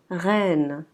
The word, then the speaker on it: reine: Ce mot sera reine. Reine. Si vous pouvez entendre, c'est un E qui est ouvert.